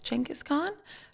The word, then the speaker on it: Genghis Khan: believed to be where Genghis Khan was buried which you said is supposed to be pronounced chengis chengis Khan from that super bad